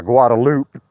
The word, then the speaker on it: Guadalupe: I was just walking around one morning over by Guadalupe, and yeah, they pronounce it Guadalupe in Austin. It's not Guadalupe, it's Guadalupe.